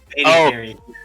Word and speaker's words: BaeDCarry: BaeDCarry.